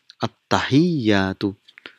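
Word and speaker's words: التحيات: At-tahiyyatu. So this is how it is pronounced, at-tahiyyatu, which means all the greetings.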